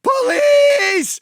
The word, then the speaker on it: police: The second you go for the throat, they go police. Police. The emphasis is on the second syllable for some reason.